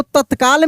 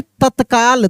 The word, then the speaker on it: तत्काल: बाद लिखेंगे तत्काल तत्काल तो तत्काल में एक त तो तो पूरा उच्चारण हो रहा है लेकिन एक त का उच्चारण आधा हो रहा है तेजी में हो रहा है तत तत देखिए त आधा हो गया यानी तत्काल त आधा त का और ऐसे ल तत्काल तत्काल ठीक है ना उसके